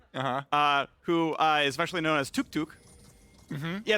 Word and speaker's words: Toucouille: and then you have toucouille, who is especially known as Tuk Tuk. Yeah, it's spelled differently, but the pronunciation's identical, basically.